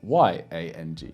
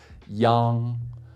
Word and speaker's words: yang: which if it's by itself will be spelled y-a-n-g if you knew nothing about pinyin or Mandarin before you watch this video you might think that this is pronounced young because it has the arm spelling there right